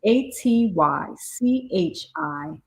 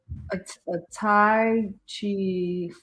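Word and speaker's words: atychiphobia: But it says Atychphobia. We both Googled how to look it up. How to pronounce it, because we didn't want to come before y'all sounding crazy. But if we would have just went forth and was like, a Tai Chi, right? That would have been unsuccessful pronunciation of the word, right?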